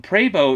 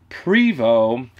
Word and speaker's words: Prevost: me some unsolicited advice and tell me that pray bow is pronounced Prevot and that I'm the one pronouncing it wrong